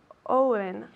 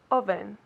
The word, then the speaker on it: oven: do you say Orno Owen okay be careful is so try it again oven oven absolutely perfect right oven